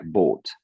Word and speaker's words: bought: Parce que là, tu m'as dit un bateau, donc attention à la prononciation aussi. Donc C'est c'est comment tu... bought. Boat. Alors toi, tu m'as dit, ouais, c'est ça, bought. C'est très, tu vois, c'est très sec en fait.